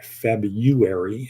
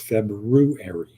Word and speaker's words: February: to pronounce February properly it's not febrary it's febru area right anybody remember those days